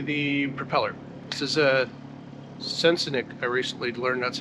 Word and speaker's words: Sensenich: This is a Sensenich. I recently learned that's how you pronounce it. I've been saying Sensenich the whole time.